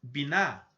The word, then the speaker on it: Binah: esfera é a esfera binah essa pronúncia é mais simples binar ela se posiciona no